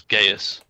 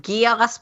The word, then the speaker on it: Geas: where one of the one of the spells nowadays will be pronounced just as gasp but I think is more commonly in D&D pronounced as Gaius it's pronounced Geass because of code geass all